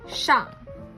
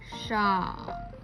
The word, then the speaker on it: 上: We say 上. 上.